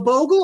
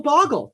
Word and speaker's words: Bogle: Ogle the Bogle or Goggle the Boggle. Doesn't matter.